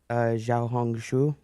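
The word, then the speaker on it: Xiaohongshu: uh they say ziao Xiao hongu xia can I get a half of half of it is like you hung your shoe yeah so tell us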